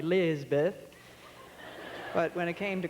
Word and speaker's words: Elisabeth: and of course southerners know how to drag out a name until it takes a lot longer or the hell they truncate a name my name elizabeth they make two syllables out of four they call me lisbeth but when it came